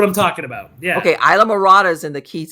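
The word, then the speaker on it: Islamorada: To help me say the word, Isla Morta. Am I saying it right? Isla Morta? Isla Morta, no. Isla Morta. I'm thinking when you say that, there's Isla Morada down in the Keys.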